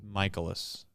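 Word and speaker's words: Mikolas: Michaelis.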